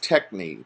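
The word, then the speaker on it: techne: to describe it was technique te CH in E and so kind of like technique and he said it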